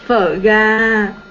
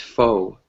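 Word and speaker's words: phở gà: no, no, no, no, no, no, phở ga, phở ga, right? Pho Yes, ga. phở ga. Uh-huh. I had a very difficult time pronouncing the word because I thought it was pronounced pho.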